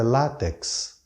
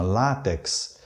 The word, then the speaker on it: látex: quando o correto é látex a sílaba tônica é a penúltima látex então comete um erro